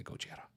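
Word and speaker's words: ゴジラ: to to us westerners but I prefer the original pronunciation which I can never get right but it does sound cool when it's said by a Japanese person and they say gochiara really menacing I love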